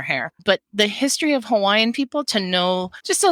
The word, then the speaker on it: Hawaii: let's just repeat it the w sometimes pronounces Aviv but there's definitely what we call an okina between the two eyes that make it a e sound on the end Hawaii thank you very much